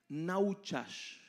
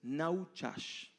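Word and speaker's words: נחש: el hebreo en Génesis es naas disculpen mi hebreo mi pronunciación pero es naas y significa literalmente uno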